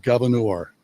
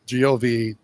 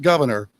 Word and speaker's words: Gouverneur: I grew up in a little town called Gouverneur, Gouverneur, not governor. Governor. Right. Rhymes with manure.